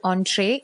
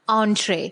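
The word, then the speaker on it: entrée: it is because students this is a french word and the french people they also pronounce it in this manner only so it's better if you pronounce it as entree okay and what does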